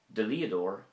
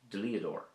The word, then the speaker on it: Dlíodóir: Dlíodóir is a solicitor or a lawyer. Dlíodóir.